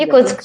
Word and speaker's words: Yakutsk: There's a place in Siberia called Yakutsk. You'll correct me on my pronunciation. Yakutsk.